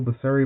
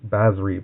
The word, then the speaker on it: Basri: If you control Basari Planeswalker. I'm saying it wrong. I'm sorry. Basri Planeswalker.